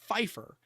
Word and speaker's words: Pfeiffer: it's it's it's not Pfeiffer the p is silent like it's uh I'm pretty sure that's I mean it's Eastern European I think it's German but um could be wrong but yeah it's Pfeiffer how do people not